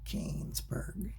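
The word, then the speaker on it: Königsberg: this chapter the famous kingsburg bridge problem uh let's see it's got left over the hole there i think that's what it's called the pronunciation it sounds like kanesberg so if you'll recall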